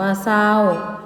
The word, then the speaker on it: เศร้า: จริง อ่าน ว่า จริง เศร้า อ่าน ว่า เศร้า ไซร้ อ่าน ว่า ใส